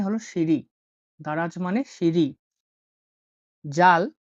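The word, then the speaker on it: ذال: জাল, জাল হলো উচ্চারণ হয় জ এর মতো।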